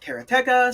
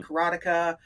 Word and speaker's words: Karateka: whatever it is he mechner says that some people call it karateka some people call it karateka uh uh in Japan